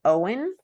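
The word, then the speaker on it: Eoin: guy which is funny his name is Owen but it's spelled e-o-i-n um and so I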